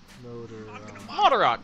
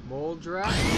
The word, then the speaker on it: Moldarach: Moldarach. I'm gonna mod a fucking rock into an AK-47 machine gun. Yeah, but when I see CH, so Moldarach. Sometimes CH is just OCK. Like Mach, M-A-C-H.